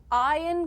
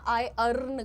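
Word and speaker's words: iron: आप यहां पर आयरन की प्रैक्टिस करिएगा। आई अर्न की नहीं आयरन।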